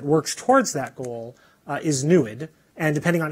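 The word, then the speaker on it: NEID: spectroscopy is our little backronym and it explores the NASA NSF program to explore exoplanets newid has the the funny pronounciation rhymes is like fluid easy to remember and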